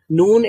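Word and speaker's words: نون: ওকে, যে এখানে যেটা লেখা, নুন comes out when the edge of the tongue touches the gum of the top teeth from anayab to sanaya.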